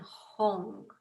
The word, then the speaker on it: Hung: And the syllables are Om, Ah, and Hong. Om, O-M, Ah, A-H, and Hong, H-U-N-G.